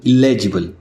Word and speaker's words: illegible: एलिजिबल, इलेजिबल, दोनों words के pronunciation में थोड़ा सा डिफरेंस है।